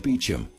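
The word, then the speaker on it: Beauchamp: But there's an unfortunate twist for George Beecham. His name doesn't look anything like it's pronounced.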